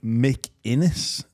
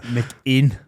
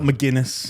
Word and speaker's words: McInnes: Not McGuinness.